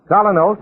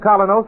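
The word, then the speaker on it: Kolynos: Colonos is a high-polishing toothpaste.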